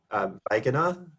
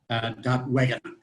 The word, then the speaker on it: Wegener: V or of W? Wegener, that's fine. Wegener. Wegener. I always do. It's my German from high school. Always wants to pronounce the W as a V.